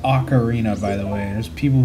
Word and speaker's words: Ocarina: It is pronounced Ocarina, by the way. There's people who are gonna say Ocarina. That is wrong. That is incorrect. That is false. It is Ocarina.